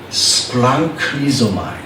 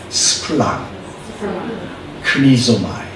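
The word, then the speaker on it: σπλαγχνίζομαι: 그래서 이 단어는 뭐냐면 스플랑크니조마이. 어렵죠? 그래도 한번 따라해 보겠습니다. 스플랑. 일단 앞을 발음을 잘 하셔야 돼. 스플랑 크니조마이.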